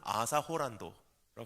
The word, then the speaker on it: Arthur Holland: 일본 발음으로는 아사 호란도라고 합니다. 근데 그분은 올림픽 유도 금메달리스트고요, 그레코 로만 스타일 레슬링 동메달리스트예요.